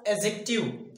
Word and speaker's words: adjective: सबसे पहले हमें यहाँ नजर डालना है कि इसे जो इसका pronunciation होता है इसे हम adjective नहीं कहते हैं. इसे adjective नहीं कहा जाता है बल्कि यहाँ पे d silent होता है और इसे पढ़ा जाएगा एजेक्टिव.